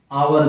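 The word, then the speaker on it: hour: ठीक है, इसी तरीके से ओवर को लिखो, लिखा भले हावर जाता है लेकिन पढ़ा आवर जाता है, तो अ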